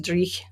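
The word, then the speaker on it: dreich: So first of all, Willie says I pronounced Drich correctly, so that's cool.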